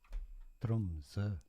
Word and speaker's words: Tromsø: In Norwegian pronunciation, Tromsø. Tromsø. Is that it? Tromsø. Is that it? No, that doesn't sound right.